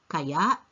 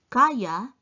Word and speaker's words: kaya: ni Jack gawain ito Did you hear the difference in pronunciation kaya kaya now can or capability is kaya whereas kaya is expressing doubt about that capability do is Gaw this